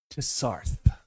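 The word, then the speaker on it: Tsaarth: Tarth, here, I'll spell it for you. T S A A R T H. Though in the original null, it's more of a missing accent. It's very rough on the throat.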